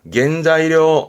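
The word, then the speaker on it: 原材料: 겐자이료, 겐자이료. 뭘까요? 단열재입니다.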